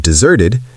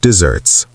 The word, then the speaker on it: desert: Pronounced desert with stress on the second syllable.